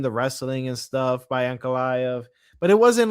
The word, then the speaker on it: Ankalaev: Yeah, Ankalaev.